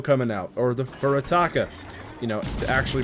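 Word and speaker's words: Furutaka: We have a Furitako coming out, or the Furitaka, you know, to actually pronounce it correctly, but, you know, we call it the Furitako because it's funny.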